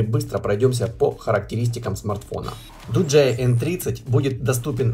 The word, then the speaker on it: Doogee: Dooji, а вообще правильно произносить Dooji, готовит мировую премьеру смартфона Dooji N30.